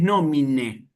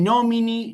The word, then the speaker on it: nomine: Entonces, esta palabra simplemente es nomine, nomine. ¿Ven? No es ni nomini ni nómina, simplemente nomine, ¿sí? Con una E al final.